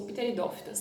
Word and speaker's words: pteridófitas: Bom, outro grupo são das pteridófitas, ou pteridófitas, né? O P é mudo.